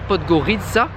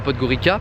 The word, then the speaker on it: Podgorica: Il est passé par Podgorica, qui se prononce comme ça, et pas Podgorica, Podgorica.